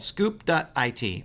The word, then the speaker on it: Scoop.it: And then the last one, it's called Scoop.it, or Scoop It is the way that I always pronounce it.